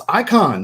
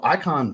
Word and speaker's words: Äican: Pronounce Äican. That makes sense because it's the A with the two little dots on top of it. And I don't know exactly how to pronounce the A in that manner. So Äican makes sense. I'm going to roll with that.